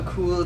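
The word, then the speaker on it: Oculto: can't pronounce the name so how do you pronounce AO a AO so it means something hidden or waiting to be found in Spanish very cool so it's very cool so aulo actually came out just earlier this year um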